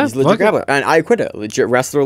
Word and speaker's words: Iaquinta: Also on this card, we have Austin Vanaford and Gabriel Zangief Chico versus Raging Al Iaquinta and Platinum Mike Perry. I think it's Iaquinta is how you pronounce that.